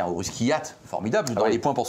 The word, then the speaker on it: Kvyat: à cause de la difficulté que pose la prononciation de son nom, Daniil Kvyat. Kvyat. Je pense qu'il y a un russe qui hâte, formidable, dans les points pour son premier Comment tu dis, toi?